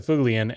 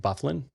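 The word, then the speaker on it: Byfuglien: small feet mm Dustin bulian which is the correct pronunciation of his last name so get out of the comments so it's like a Norwegian name that's pronounced uh like he's a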